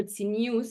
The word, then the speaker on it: tznius: So tzniut, or tznius in the Yiddish pronunciation that these women use, came up as a